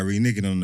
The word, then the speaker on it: reneging: Reneging. What's a reneging? Reneg. Okay, well, by reneging on an apparent promise not to charge him, the court majority ruled.